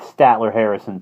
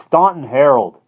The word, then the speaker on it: Staunton Harold: into the into that Statler Harrison place what do you say it's Staunton Harold said Johnny severely he hated to hear people mispronounce names would not enjoy me